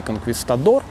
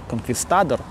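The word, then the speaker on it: конкистадор: Он уже великий конквистадор, конквистадор. У него есть путь конквистадора или конквистадора, опять-таки, вот. По-разному это все произносится, хотя с точки зрения, наверное, оригинального нужно на первый вариант обратить внимание по части ударения.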